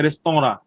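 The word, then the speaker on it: restaurant: মূলত এটা ফরাসি শব্দ, হ্যাঁ, উচ্চারণ মানে ফরাসি যখন হয় তখন হচ্ছে রেস্তোরাঁ। কি বলেন তো? রেস্তোরাঁ মানে লেখে রেস্টুরেন্ট, বাট রেস্তোরাঁ।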